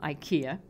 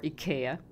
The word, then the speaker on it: IKEA: I've bought about 10 of them, and they're from IKEA or IKEA, depending on what country you're from and how you pronounce it.